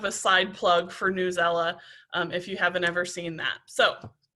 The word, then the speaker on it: Newsela: have used before but newsela or i've heard it pronounced different different ways but news ella is a website that